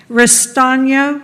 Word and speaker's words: Ristano: will just butcher this, Ristano. Oh, you did great. Oh, well, thank you. Yes, it's hooked on phonics. You just have to spell it out.